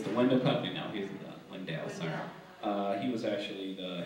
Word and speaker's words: Wendel: Window. Oh, his name was really Window? Window, yeah. Did you say he owned a window company? Window is spelled W-E-N-D-E-L. But Wendell, he was, okay.